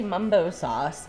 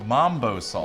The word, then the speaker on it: mumbo sauce: Sauce and Laurel how do you say it I also say Mumbo sauce however some people say Mambo sauce yes so MU versus m technically it's always spelled m a m o o yeah Mumbo but believe me we're not good at spelling uh but even though it's m i I call it Mumbo Sauce because of again where I grew up that's the way we called it we always put it